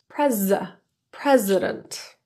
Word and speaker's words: president: time today time today Mr President I'd like to thank you for your time today the s in president is pronounced as a z Zed sound with voice added not an S Mr President I'd like